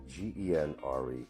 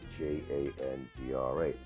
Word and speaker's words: genre: Genre, genre.